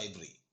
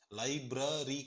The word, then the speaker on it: library: To the library. லைப்ரரி கிடையாதுங்க, library.